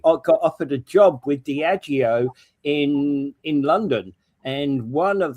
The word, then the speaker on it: Diageo: Oh, so it's not Diego, it's Diego. Diageo. Okay. The I-O at the end it matters.